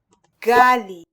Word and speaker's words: ghali: Gali. Maybe just as a nod to the Arabic spelling with a gain, fricative, but I hear a stop here for the speaker.